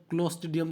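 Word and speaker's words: Clostridium: बनवाता है क्लॉस्ट्रीडियम भगाएं ऐसा उच्चारण शुद्ध क्लॉस्ट्रीडियम सांता क्लॉज़ साल का उच्चारण है ठीक है एक घोषाल का उचक्कों सरकार की तरफ नोज गुरु को द बैक कोंट्रा वाउचर तो क्लॉस्ट्रीडियम ठीक है तुम्हें कभी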